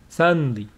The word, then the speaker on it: suddenly: Suddenly. There is nothing between d and n. This vowel is not pronounced suddenly.